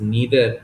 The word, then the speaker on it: neither: ऑफ द word नाइदर, it's also pronounced as नीदर in American English. तो दोनों उच्चारण ही correct है.